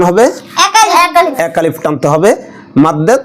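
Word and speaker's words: مَدّ: জায়গায় বইতে মদ লেখে মদ বলা যাবে না মাদ বলতে হবে কারণ মদ যেগুলো খাইলে মানুষ মাতাল হয়ে যায় আসলে এখানে যে টানতে হয় এটার নাম মাদ মদ না কারণ আরবিতে মদ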